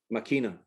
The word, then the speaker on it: Máquina: How do you pronounce her name? Máquina.